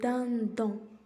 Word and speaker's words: dindon: Le dindon. Le dindon. Le dindon. Donc D-I-N se prononce din.